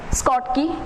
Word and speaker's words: Schottky: Next is short key defect. We can also pronounce it like Schottky or short key defect.